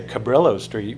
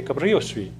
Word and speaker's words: Cabrillo: where I grew up everybody pronounces all the street names in Spanish like we don't say Cabrillo Street we say Cabrillo Street we don't say guttierez